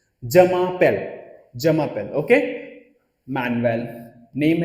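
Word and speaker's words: je m'appelle: सैल्यू, जमापेल, हमेशा फ्रेंच में याद रखना एक साथ वर्ड को रीड करते हैं, जमापेल, जमापेल, ओके।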